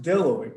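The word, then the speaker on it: bdelloid: uh it's they're pronounced dilloy because the b is uh silent how would he pronounce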